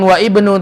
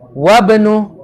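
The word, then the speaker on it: وابن: Jadi bacanya bukan wa ibnu tapi wa benu.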